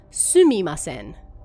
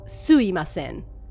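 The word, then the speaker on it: sumimasen: Normally, this would be written as sumi masen, although it's often pronounced sui masen when spoken out loud.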